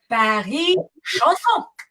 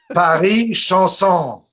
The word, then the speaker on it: Paris Chansons: Paris Chansons. Paris Chansons.